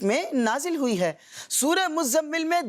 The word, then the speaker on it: مزمل: اس کو لوگ مزمل بھی بولتے ہیں، لیکن مزمل اس کا درست تلفظ نہیں، بلکہ زا جو ہے نا اس کے اوپر تشدید ہے، مزمل، ٹھیک ہے؟